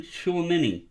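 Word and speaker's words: Tchouaméni: Aurelian Chouameni in a 9. I pronounced that perfectly and y'all know it.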